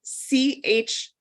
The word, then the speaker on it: Chouette: It's spelled CHOUETTE.